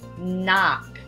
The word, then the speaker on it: knock: get started the word knock knock on the door that word begins with a silent k just like many others in the English language so pronounce it with